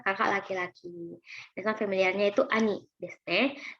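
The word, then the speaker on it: 兄: Dengan familiarnya itu ani desu. 5 coretan saja ya, silakan latihan. Nah, ini ani ya.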